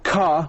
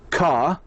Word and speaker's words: car: word cat here car in the British accent you should say car without pronouncing the R. In the American accent, you need to say the R. So in a British, you say car and the American car.